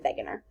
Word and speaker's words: Wegener: it looks like it's a W but it's pronounced a begginer the continental drift hypothesis using information from the